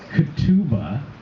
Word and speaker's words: ketubah: with it or not because part of the katuba thank you very much i said it right